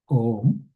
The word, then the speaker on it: Om: Om sorry as it has three syllables a m and the a represents this